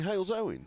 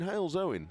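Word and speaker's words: Halesowen: How do I pronounce this place name? In Hales Owen. There we go. In Hales Owen.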